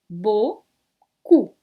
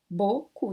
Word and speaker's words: beaucoup: Bo-cu. Bo-cu. Então é o som de O e depois na última sílaba um som de U. Que vão vir dessas vogais aí, né? Tanta vogal, mas dois sons. Boku.